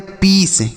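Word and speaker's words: peace: सी ई देखिए तो पी ई ए सी ई इसे हम पढ़ते हैं पीस। क्या पढ़ते हैं? पीस। अब पी आई ई सी ई इसे भी हम पीस पढ़ते हैं। ठीक है? दोनों को पीस पढ़ेंगे।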